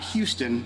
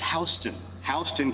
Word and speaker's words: Houston: is another fun one it's not Houston in Georgia it's HST hon County 196 um Liberty